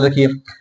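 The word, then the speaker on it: though: अगर किसी वर्ड के लास्ट में जी एच या जी एस टी आई हो तो वहां पे जी एच का उच्चारण नहीं किया जाता। जैसे क्या हो गया, एग्जाम्पल देखिए, हाय, साय, थाय, दो, थ्रू।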